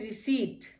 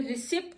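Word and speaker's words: receipt: इसमें रिसिप्ट नहीं कहते हैं, बहुत से लोग इसको गलत पढ़ते हैं, रिसिप्ट पढ़ते हैं, लेकिन कभी भी रिसिप्ट नहीं पढ़िए, ये वर्ड है रिसीट, क्योंकि इसमें PT इकट्ठा और इसमें P साइलेंट हो जाता है और ये हो जाता है रिसीट, रिसीट।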